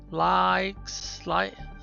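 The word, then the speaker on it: LIUX: Likes? Or licks? How would you pronounce that? Likes, L-I, long I.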